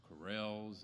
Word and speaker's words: corral: building pole barns and corels and spelled corral but they pronounce it corel and then all kinds